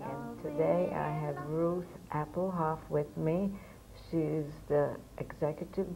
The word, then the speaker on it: Appelhof: Again, the play is the thing, and today I have Ruth Appelhof with me.